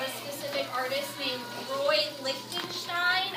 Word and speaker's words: Lichtenstein: And we're going to be learning about a specific artist named Roy Lichtenstein. I know that name is kind of hard to say, so I spelled it out phonetically. So it's Lichtenstein. Roy Lichtenstein.